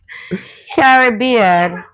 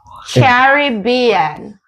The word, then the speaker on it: Caribbean: Next, Caribbean. That's the wrong way. Caribbean.